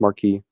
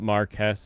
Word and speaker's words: marquis: It's pronounced Marquis. Like Marcus Brownlee? I don't know how to pronounce Marquis any other way than Marquis. We looked it up one time. Marquis is technically the French pronunciation, which British nobility will sometimes use, but Marquess is like the Brits pronunciation.